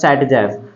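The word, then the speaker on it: Zaitsev: पहले ऑब्जर्व किया था Russian chemist Alexander jet safe also pronounce S सेट जफ और देखिए सबसे पहले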